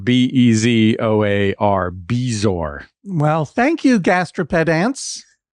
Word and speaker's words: bezoar: I am I am pretty sure it is pronounced bezoar. Bezoar? Bezoar. B E Z O A R.